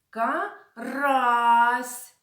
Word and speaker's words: карась: лука піймав сазана карася наголос в назвах цих риб падає на другий склад сазан карась а лука впіймав окуня